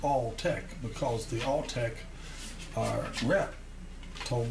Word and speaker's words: Altec: And that's pronounced Alltech because the Alltech rep told me way back. It was the name. People say Altech.